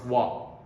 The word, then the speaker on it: は: So if this ha used as a particle, we pronounce wa.